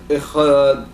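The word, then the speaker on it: אחד: So he said that you have to vocalize the Cha, the Ch, the Shva, intent of Kamatz, Ch, Echad, right?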